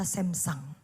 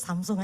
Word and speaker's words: Samsung: Saya baru tahu kalau bacanya ternyata Samsang. Ya udahlah kita orang Indo ya, bacanya Samsung aja lah gitu.